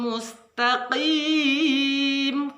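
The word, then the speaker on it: مستقيم: Beda ketika kita kim dengan qim. Huruf kaf itu k, memakai huruf k kalau dalam bahasa Indonesia, tapi kalau huruf qaf lebih dekatnya kita memakai huruf q, lebih ke dalam daripada kaf.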